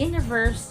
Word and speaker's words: universe: other one is universe so international he should be on the third syllable while the universe is on the first syllable so just to make